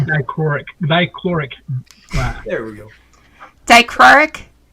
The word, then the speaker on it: dichroic: It's dichroic.